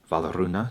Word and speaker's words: Wardruna: Einar Selvik, he's the creator of the musical project Wardruna, or Valaruna to pronounce it accurately.